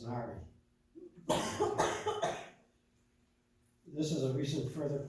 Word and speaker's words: ASNRI: acronym we've been learned, and it's pronounced as NARI.